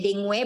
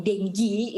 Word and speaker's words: dengue: kita memang Tinggi oke Adek bacanya dingo e bahasa Indonesia juga nggak papa deh itu adalah American English sedangkan denji itu adalah BTS english sampai yang berat itu